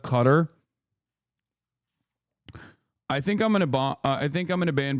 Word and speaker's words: Qatar: You are pronouncing Qatar wrong. You keep saying Qatar law instead of Qatar.